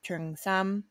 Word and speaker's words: cheongsam: you've heard to it referred to as trung sam that's from cantonese chinese sorry to the cantonese